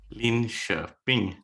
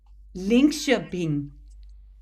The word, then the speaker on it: Linköping: Linköping, Sweden. Linköping.